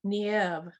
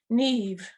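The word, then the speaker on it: Niamh: name is that irish it's pronounced nieve neve he looked down better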